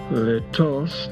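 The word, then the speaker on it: lítost: Quote, "Let is an untransatable Czech word. Its first syllable, which is long and stressed, sounds like the whale of an abandoned dog.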